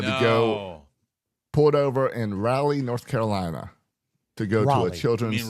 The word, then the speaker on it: Raleigh: as I had to go- Pulled over in Raleigh, North Carolina, to go to Raleigh. a You children's. mean Raleigh? ER. That's what I said. Yeah. Raleigh. You said rally.